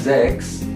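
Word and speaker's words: sechs: Ya gitulah en itu zex zex Jadi s-nya itu dibaca Z zex betul S CH ada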